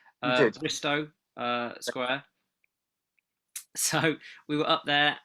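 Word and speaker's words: Bristo Square: Bristow Square.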